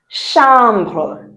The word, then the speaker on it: chambre: If you have not seen an accent on the e at the end, you don't sound the e.